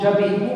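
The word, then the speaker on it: j'habite: So after Elysium, before it is je habite, after Elysium it will be how? Jabit. Two words are getting connected, no. So you have to pronounce jabit. Before, because of Elysium, two words got connected, contraction is taking place. So you have to pronounce them together, like liaison. You have to say jabit.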